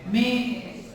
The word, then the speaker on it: mayonnaise: Actually the there are the spelling is like three syllables but actually two when you pronounce it if you know the sign in the dictionary it's actually two and a half.